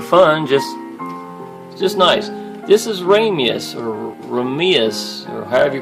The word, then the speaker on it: Raimais: This is Raimais or however you pronounce it. It's actually a Japanese game. It's Raimais.